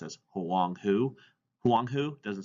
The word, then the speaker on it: Huang He: the Huang He is actually not pronounced as wonky it's pronounced as along who Huang who doesn't sound as great as Wang he it's